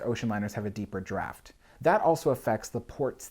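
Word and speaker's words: draught: is called the draft we might spell it d-r-a-f-t or if you're british you might spell it d-r-a-u-g-h-t draft and you'll notice that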